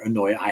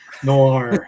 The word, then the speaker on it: noir: No, I hate pronouncing that word. Noi, whatever. No. No. No. No. No. Yeah, whatever it is. Noir. That's it. That's it. Noir.